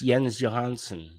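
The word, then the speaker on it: Jens Johansson: Dave's interviewed him but he doesn't doesn't say his name right the keys on this is not him it's yens Johansson I think the keys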